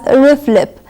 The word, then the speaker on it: RFLP: abbreviated as RF LP it's pronounced usually as riff lip it walls incubating DNA